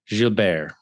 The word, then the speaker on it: Gilbear: Robb Gilbear. Is that right? Wow, you nailed the pronunciation.